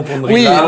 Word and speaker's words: Van Rillaer: J'espère que j'ai bien prononcé votre nom, Vandrillard. Oui, oui, oui. C'est un nom flamand et donc le E qui suit le A rallonge tout simplement le A.